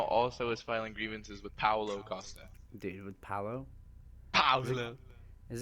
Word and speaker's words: Paulo Costa: His name is Paulo Costa.